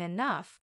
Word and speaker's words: enough: day I'll even understand why G can sound like f in enough the mysteries of English